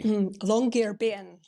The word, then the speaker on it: Longyearbyen: How do you pronounce the name of the city? Longyearbyen.